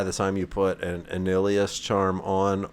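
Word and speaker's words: Annihilus: time you put an Anilius charm on, or Annihalus, is the pronunciation that I found off the internet, or you put on a torch.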